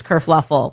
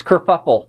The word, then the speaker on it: kerfuffle: Prince Harry abdicates England, causes this whole race kerfluffle. Oh, no, it's kerfuffle. We knew a kerfluffle happened. Kerfuffle. Because this dress kerfluffle. Pronounced kerfuffle. Kerfuffle.